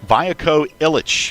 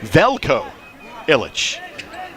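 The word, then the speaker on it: Veljko Ilić: Vio Illich. Free throw up and no good. The pronunciation for the first 15 games in the game notes was Velco Illich.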